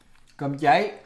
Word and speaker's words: Cơm cháy: Cơm cháy.